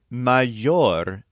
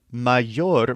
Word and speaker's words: mayor: means better or best the word maor is similar it means something like greater or greatest this is spelled m a y r just like the English word Mayor this word doesn't have